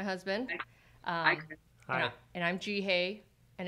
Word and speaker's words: Jihae: uh hi and i'm ji hey and it rhymes with like the letter g and like you're saying hey that's how i remembered